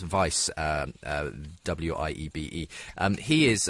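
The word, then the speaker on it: Wiebe: interesting chapter is by Philip I think it's pronounced vice WI ebe and he is a professor but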